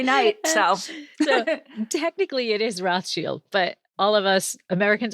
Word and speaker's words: Rothschild: or rochelle every night so technically it is rothschild but all of us americans are i guess canadians um actually say rothschild but yeah technically it is rossfield yeah it